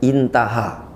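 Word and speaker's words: انتهى: Alif ha ya itu artinya intaha cara bacanya intaha artinya selesai bahasa kitanya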